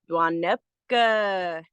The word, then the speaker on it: Dwanepka: And when our elder got to this word, they said, with this one, you got to lean way back in your chair and you say it like this: Dwanepka.